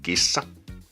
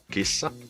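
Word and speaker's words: kissa: example the word gissa gissa a cat and we pronounce it by just combining all the different Unique Sounds together something like G which just have to prolong the S because it's double s or if we take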